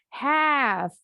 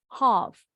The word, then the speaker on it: half: This is how the Americans say it, while the British say it as half. Jadi kalau orang Inggris bunyi A-nya lebih bulat, half. Kalau orang Amerika lebih lebar, half. Bebas. You can say half or half. Both are correct.